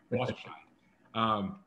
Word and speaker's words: Walterscheid: Gary, I should have asked your pronunciation. Walterscheid. So close. That's it. Walterscheid.